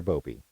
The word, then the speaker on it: Bobi: How would you pronounce that? Bobby or Bobi? Bobi.